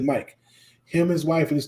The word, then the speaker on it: Mick: in maryland his name his name is mike but he spells it like mick m-i-c-k but he pronounces it mike him his wife and